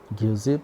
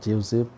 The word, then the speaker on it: Giuseppe: Giuseppe or Giuseppe, you can pronounce in either way.